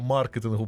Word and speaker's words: маркетингу: головою то тому що сказав маркетингу правильно так з наголосом на а Вітаю вас і Давайте